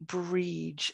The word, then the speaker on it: Brighid: and then we have the spelling then b or i g h i d and this would be bridge and this is getting